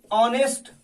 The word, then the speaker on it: honest: ठीक इसी तरह से अगर किसी शब्द की शुरुआत, कोई भी शब्द है, कॉन्सोनेंट से अंग्रेजी में होती है और उसका उच्चारण हिंदी में वॉवेल की तरह हो जाता है, तो वैसी स्थिति में